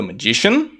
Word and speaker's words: magician: Então, the magician, a tônica aqui no G, created the perfect, com a tônica no início, perfect, ok?